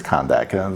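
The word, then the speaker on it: Kahndaq: Or I think it's Kondak. That's how it's pronounced.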